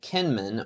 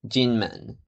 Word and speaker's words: Kinmen: In English, it's called Kenman or an older sources Kimoy. In the local dialect, it's pronounced something like Kim and it means Golden Gate. In Mandarin, it's actually pronounced Ginman.